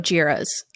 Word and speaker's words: Jira: okay let's start with jira's um yeah jira rhymes with era that was like my